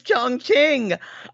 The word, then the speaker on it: Chongqing: gonna y'all I promised you the name is Chongqing I promise you it is spelled this way c-h-o this is an opinion